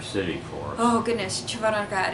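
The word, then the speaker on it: Червоноград: Oh goodness, Chervonograd. It's Chervon Hard, Chervonograd.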